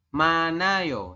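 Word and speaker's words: 많아요: yang ini manayo n ini kenapa jadi manayo karena ada Hi di akhir ketemu denganem vokal Iya jadi hinya tidak terba terbaca Nah nanti teman-teman Bacanya adalah manayo seperti itu tu ya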